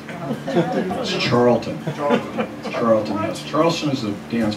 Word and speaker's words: Charlton: well in my Boyhood hero who trade Moses Charleston pest your Boyhood hero and you mispronounce his name said it right Charleston H charlon H it's Charlton charlon Charleston is a dance flapper something I